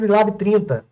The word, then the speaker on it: Unilab: Então, eu só voltando aqui, galera, só para arrematar mesmo, vocês não, meu, cupom, galera, não esquece, ó, hashtag Unilab30, tá? Unilab mudo, o B é mudo, tá?